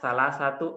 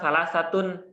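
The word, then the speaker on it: ثلاثة: salasun tapiu salah satu kalau salah satu ini berdiri sendiri maka dia akan dibaca salatun tapi karena dia bersambung dengan aqlamin di sini maka dia dibacanya Sal satu aqlamin Sal satu bukan Sal satun bukan Sal satun aqlamin ini khusus untuk ee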